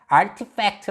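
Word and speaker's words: RTFKT: 어떤 회사를 인수 했는데 rtf kt 라는 것이고 어떻게 읽은 야 rt 펙트 라고 읽어요 자 이거는 가상의 운동화를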